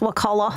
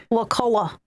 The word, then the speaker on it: Wakulla: Sop Choppy, a little bit south of Tallahassee in Wakulla County. I believe that's how you pronounce that. It's Wakulla.